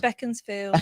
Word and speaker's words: Beaconsfield: It's Beaconsfield. You get it wrong every time. Beaconsfield. Spelt Beaconsfield, but pronounced spelled Beacon.